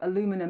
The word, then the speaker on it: aluminium: at this point to the steel and aluminium or aluminum as you Americans say you aluminum. I still need to get used to that word aluminum tariffs that were imposed back in March.